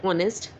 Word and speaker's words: honest: The first one is an honest man. In the word honest, the letter H is silent. So the word begins with the vowel sound O.